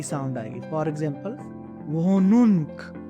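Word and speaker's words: Wohnung: For example वोनुन्क, वो नुन, और जब भी एच हा जो आपका बीच में है वो हम नहीं प्रोनाउंस करते।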